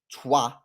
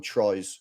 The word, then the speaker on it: Troyes: And I think that they're pronounced Trois. We call them Troyes. Yeah, we call them Troyes. But they're pronounced like Trois or something like that.